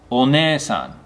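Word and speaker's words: お姉さん: Onesan. This is for older sister. And this is a long e sound. So it's one-e-san.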